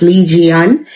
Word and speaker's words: 이지은: I think her real name is pronounced Lee Jian, and she's known as, the queen of K-pop, right?